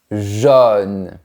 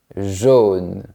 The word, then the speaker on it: jaune: Ici, on prononce comme la lettre O de manière ouverte. O jaune.